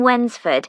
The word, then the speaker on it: Wednesford: She lives in Wensford, so you'll need money for the bus fare. Wensford? That's funny. It's like, when's the food? No, it's spelled Wednesford.